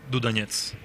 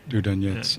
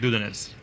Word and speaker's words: Dudanets: In Russian, it is Dudanets. So just Dudanets. Yeah. Oh, there it is. Yeah. I think the Americans tend to make the stress on the first vowel, like Dudanets.